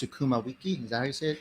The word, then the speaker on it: sukuma wiki: Kenya almost every day it's pronounced tsukuma Wiki so kumawiki actually it's okay it's